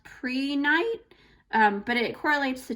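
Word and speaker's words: prehnite: do i pronounce this i think it's pronounced pre-night um but it correlates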